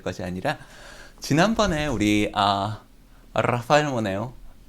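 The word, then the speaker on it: Rafael: 오늘 가우디 이야기 할 것이 아니라, 지난번에 우리, 라파엘 모네오. 스페인에는 이 알자를 굴려서 발음을 해야지 돼요. 라라라. 이렇게 혀를, 라. 한국 사람이 아주 발음하기 어려운 발음이죠.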